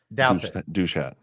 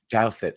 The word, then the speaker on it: Douthat: Ross Douthat. Douchat. Douthat. Thank you.